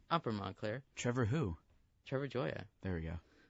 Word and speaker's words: Joya: Because I used to say Goya for the longest time. It's pronounced Joya. It's like joy. I think. How you pronounce the word joy? Yeah. And it's like that. It's like Joya.